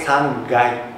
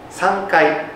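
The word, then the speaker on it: 三回: Untuk yang ketiga, kami menggunakan "sangai." "Sangkai" juga bisa, tetapi terkadang kami hanya menyebutnya "sangai." Sangkai.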